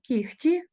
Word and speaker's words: кігті: і прочитаємо ці слова Ми вимовляємо кігті перевіряємо кіготь і пишемо кігті з буквою г далі ми вимовляємо нігті